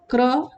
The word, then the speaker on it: क्र: pronunciation work करके भी, यानी जिस अक्षर में ये लगा हुआ है, र लगा हुआ है, वो अक्षर आधा होता है, यानी क आधा है और र पूरा है, र आधा और